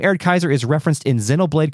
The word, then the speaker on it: Erde Kaiser: on the zenaga wiki I learned that the AED Kaiser does appear in the other two games too